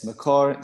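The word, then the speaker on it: Mekor: the street it's someone said how do you spell it m-e-k-o-r it's macar c-h-a-i-m um the feeling that you have here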